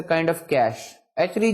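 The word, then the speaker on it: cache: ऑफ कैश actually जो this word is like just like कैश यानी जो आपका कैश या पैसे होते हैं इसमें ई साइलेंट है आमतौर पे जो है वो लोग ई को प्रोनाउंस करते हैं बट ई is actually silent in this word तो ये कैश की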